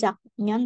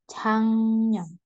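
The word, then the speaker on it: 작년: kata sinooreanya Chang non nah ini bacanya bukan Jak non tapi changon Oke Chang non artinya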